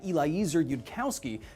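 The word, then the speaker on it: Eliezer Yudkowsky: Upon dissemination of this thought experiment to the rest of the website, the founder of the website, Eliza Yudkowski, called the That's how you say it, post stupid.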